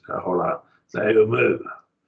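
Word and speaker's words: θεοῦ μου: They would just be like you hyphenated the word. Theou, mu. And so you would hyphenate it. So it butts up against it and becomes like part of it, hyphenated. And that's how I was told that it ought to be pronounced.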